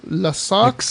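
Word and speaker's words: Lascaux: Hay una caverna en Francia que se llama Las Caux, que se debe pronunciar algo así como Las Saux, Excaux, Las Saux o algo así.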